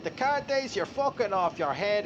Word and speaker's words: Descartes: Pronunciation, he had Descartes.